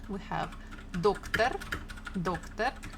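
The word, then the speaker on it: доктор: So there are two syllables. First one is doc, second one is tar. Doctor. So you need to think, listen, and put the stress. Again, you can put the highlighter or the pencil, whatever you want. Doctor, doctor, doctor. And the stress falls on the first syllable, doctor.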